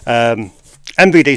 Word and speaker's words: MVD: Make sure you pronounce the M in that, or else it comes up as VD store. MVD store.